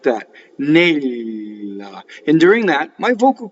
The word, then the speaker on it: Nella: So first word has a double L in it. Nella. Right, and I'm going to do this as it comes to me. And we'll cover all the principles of pronunciation. So nella. How do I make a double L? Is by holding the L in phonation on the with the tip of my tongue on the roof of my mouth, like that, nella.